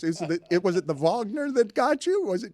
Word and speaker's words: Wagner: Well, but I was so tempted to pronounce it Wagner, but Vagner puts an ex extra little flare on Holy Terry.